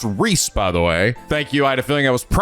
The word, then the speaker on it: Ries: as also his spicy friend uh which is pronounced Reese by the way thank you I had a